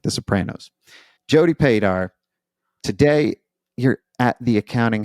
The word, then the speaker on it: Padar: it right do you correct people if they pronounce it wrong I don't but it's easy because it's pedar like radar there you go yeah I know